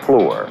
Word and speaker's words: Fluor: that name stands for a name some people find hard to spell and others hard to pronounce the name is floor where is floors literally